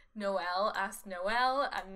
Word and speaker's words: Noelle: We're gonna take Hazel and we're gonna take Noelle and Lucky.